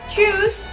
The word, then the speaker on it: tschüss: Tschüss. Ya, huruf U-nya lebih kecil ya.